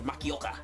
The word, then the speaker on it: Makioka: that you know because japanese pronounced in japanese it is very cut cut cut you know what i mean it's like makioka you know you have to give it some emphasis to it i'm like korean korean